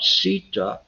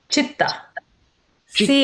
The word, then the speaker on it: chitta: or we talk about sitta. Um is that the correct pronunciation? Chitta is so it's like a cheetah chitta.